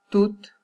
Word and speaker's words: toutes: Pour les féminins de ces noms ou de ces adjectifs, les T, il faut le prononcer. Par exemple, tout, et pour le féminin, on prononce toutes.